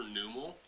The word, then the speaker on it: Numel: Nest ball for Numel. I think it's supposed to be pronounced Nummel, right? Nummel.